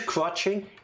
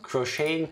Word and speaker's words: crocheting: I'm a language expert, and crotching is how they pronounce it in the southeast. No, the southeast of what? Nowhere? Of my mind. Yeah. No. I sometimes say spell crocheting too.